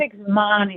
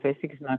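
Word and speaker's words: Pesek Zman: I don't know how to pronounce this, Ruth. Pesach Zman is my love. Pesach Zman.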